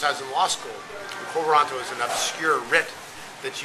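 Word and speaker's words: quo warranto: heard that since I was in law school konto is an obscure RIT that's used to challenge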